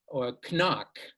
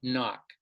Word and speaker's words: knock: And that's why some learners of English will say knee or knock rather than saying knock.